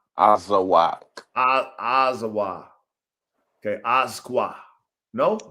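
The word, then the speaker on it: Azawakh: And then there's the Asqua. Azawak. Azawa. Okay. Asqua. No? The K is silent?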